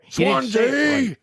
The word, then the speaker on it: Swansea: But one is Swansea, of course. Just being the town next door. You didn't say it right, AJ. Swansea!